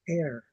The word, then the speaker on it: heir: The H is silent. Air.